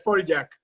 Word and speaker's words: Poljak: No, lo que pasa es que no es polaco, es croata. Entonces él lo pronuncia en polaco y tampoco lo pronuncia bien. Es Poljak.